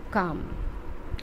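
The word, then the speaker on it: calm: दुख हुआ बीरबल वॉस काम अब यहां पर कॉल नहीं होता है काम होता है ए साइलेंट है बीबर बॉस काम काम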